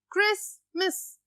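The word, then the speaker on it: Christmas: Okay, क्रिसमस, obviously T silent हो जाएगा।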